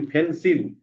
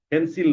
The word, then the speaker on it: pencil: আমরা বলি ফেন্সিল, ফেন্সিল না, ফেন্সাল, ফেন্সাল, ফেন্সাল।